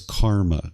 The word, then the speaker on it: karma: Some people refer to it as karma. Karma is the Sanskrit version of this word, where the Pali version is pronounced karma.